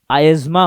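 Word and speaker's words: asthma: आपके बोलने में एकदम से अस्थमा निकलने से आपने बहुत बड़ा कुछ पाप नहीं किया है, लेकिन याद रखना रियल प्रोनाउंसिएशन कैसा होता है, आयजमा होता है बच्चों, ठीक है।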